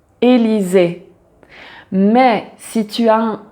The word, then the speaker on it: Élysées: le son et donc à chaque fois que tu as un e donc un e avec un accent aigu on prononce toujours Élisée mais si tu as